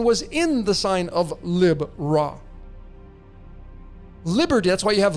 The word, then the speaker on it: Libra: has the constellation of Lib Ra there. Lib Ra. Some of you pronounce it Libra. For me, it's Lib Ra.